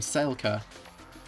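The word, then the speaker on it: Saelka: but she has a girlfriend from that clan named Selka. Sela spelled like spelled S A spelled S A E L K A.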